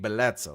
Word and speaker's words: Blesza: spell andor pronounce because really it's Bletza. Like that's my Sicilian name, but I you know American eyes it's J or Blesza, right?